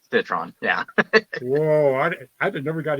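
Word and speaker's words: Citroën: A lot of people Really? like to put the French pronunciation, much like the car. So it's not Citroen, it's Citron.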